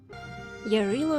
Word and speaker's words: Jarilo: that either not pronouncing game at all or pronounced perine correctly yarillo 6 it is pronounced yellow is the personification